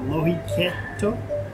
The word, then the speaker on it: Lohikeitto: And I think it's called Lohikeitto. It kind of has a little pause in there.